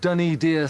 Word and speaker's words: Dunnydeer: you see right there we're now at dunny dear Stone Circle duny dear spelled with an i but dunny dear spelled with